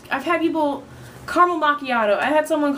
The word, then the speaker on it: macchiato: just can't mock mock Machado macchiato like it's not hard and then mocha like